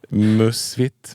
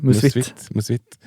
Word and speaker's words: Musvitt: Musvitt. Ja, nej. Musvitt. Det är ett danskt ord, det är därför.